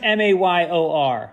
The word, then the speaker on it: mayor: Okay, Mike, pronounce pronounce m a y o r. Mike. Yeah, it's one syllable. Mayor.